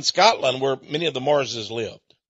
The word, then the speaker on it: Marr: There's even a town in Scotland where many of the Marrses lived. Actually, they were called M-A-R-R, the Marr. But they pronounced it, you know, the Marrs.